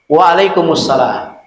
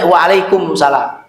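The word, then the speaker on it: wa'alaikumussalam: Para mufasir menyebutkan maksud ayat ini adalah ketika ada orang mengucapkan asalamualaikum kepada kita, kita jawab waalaikumussalam. Waalaikumussalam. Itu mimnya nyambung Pak ke sini ya. Jangan sampai waalaikumsalam.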